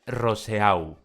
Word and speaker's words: Roseau: Es Dominica y tiene su capital en Roseau, que los franceses pronunciarían algo así como Rousseau.